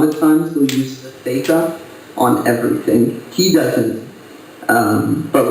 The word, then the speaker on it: zeta: And it's actually theta. It's actually pronounced theta.